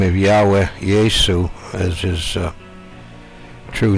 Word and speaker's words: Yahweh: But the correct pronunciation of God's real name is Yahweh Yesu.